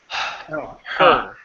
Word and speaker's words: her: So, you don't want to say it's like it's a breath. Open your mouth. Don't let your tongue touch the top of your mouth. Her.